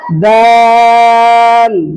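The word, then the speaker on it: د: আবার বলেন আবার বলেন আবার বলেন দাল দালের উপরে একটা দিলে হরফের নাম কি হবে?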